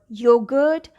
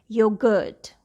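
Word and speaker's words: yoghurt: Then we have the word yogurt. Now here, GH is at the beginning of the next syllable, the second syllable, but you can hear it very well. Yogurt.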